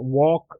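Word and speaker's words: walk: इन the following word वॉक वॉक में कौन सा साउंड नहीं आया एल का साउंड नहीं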